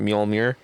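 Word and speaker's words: Mjölnir: How do you pronounce that? Mjolnir.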